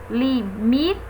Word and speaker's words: limite: pronuncio o João Caju limite na mesma forma né percebemos que a sílaba forte é mi apesar de não estar